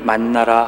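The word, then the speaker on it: מן: 이스라엘 족속이 그 이름을 만나라 하였으며 가시같이 희고 맛은 꿀 섞은 과자 같았더라. 이스라엘 사람들은 이 음식에 만나라는 이름을 붙였습니다. 우리말로 만나라고 음역되어 있는 이 음식의 본래 명칭은 히브리어로 만이라고 읽습니다.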